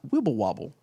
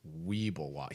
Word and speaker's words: Weeble Wobble: How do I make them not wibble wobble? I believe it's pronounced Weeble Wobble. He wrote Wibble Wobble, but that, okay. that was incorrect.